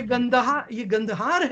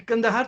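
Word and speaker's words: Gandhar: ये गंदहार है, ये कंदहार तो मिस प्रोनाउंसिएशन है।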